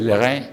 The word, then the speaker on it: Leray: Bueno, ahora vámonos con Monsieur Leray, se pronuncia Leray en francés.